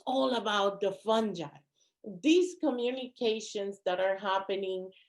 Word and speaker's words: fungi: is fungi my advisor my mycology advisor at university of maryland taught me that is fungi however i won't get mad if you call me a fungo so um the the the pronunciation um between academics is fungi but truth be told i'm really not mad either way um and he mentioned